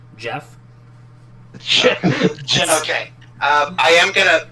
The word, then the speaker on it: GIF: Did you call it a GIF? A GIF. It's pronounced Jeff.